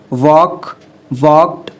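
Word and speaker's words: walked: ठीक है, उसका लास्ट वर्ब था जिसको मैंने आपको करवाया, उसको हम पढ़ेंगे इस तरीके से, वॉक्ड। इसमें आपका एल साइलेंट है, ठीक है।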